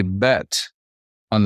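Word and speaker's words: בְּתוֹךְ: this a little better if I were to put a bet on the front of this and we pronounce this Beto which would mean in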